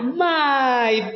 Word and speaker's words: my: My.